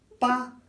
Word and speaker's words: paella: Paella. Paella. That's how you do it. It's not paella, it's not any of those.